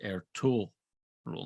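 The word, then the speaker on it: Ertuğrul: G it's actually yamushake it's air tool rule not tog but it's a g with a little tilde over it uh r-u-l so e-r-t-u-g-r-u-l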